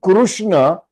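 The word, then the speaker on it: कृष्ण: a Sanskrit word but if I'm saying Krishna means I'm pronouncing Krishna only but in Hindi or in marati or in Gujarati any other language but not uh sansam if it is sansam it should be krushna okay okay okay that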